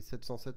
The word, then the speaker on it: 707: pour les dérivés militaires son nom est habituellement prononcé seven au Seven en anglais et 707 en français selon les versions l'avion